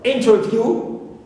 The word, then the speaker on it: interview: I can mention here the word interview interview view ends with long vowel o clear but here I stress the first syllable in although the last syllable